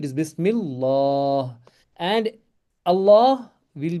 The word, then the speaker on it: बिस्मिल्लाह: this one बिस्मिल्लाह हां ये लंबा करो बिस्मिल्लाह बिस्मिल्लाह वेरी गुड दैट मींस